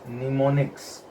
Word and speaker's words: mnemonics: This M is silent in this, so it is pronounced as mnemonics.